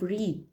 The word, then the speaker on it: read: exceptions for the rule like the past participle of read we say read at present and red in the past perfect or the past tense we pronounce it like red we know that these